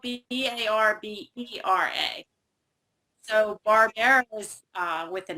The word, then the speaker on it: Barbera: Spelled like Barbara, but we only say... No, it's actually spelled Barbera.